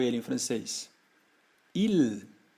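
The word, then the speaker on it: ils: vou acrescentar um s eu digo Il que nem no singular Ah olha só elas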